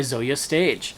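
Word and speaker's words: Zoje Stage: next book I read was baby teeth by Zoya stage this book um was excellent this book tells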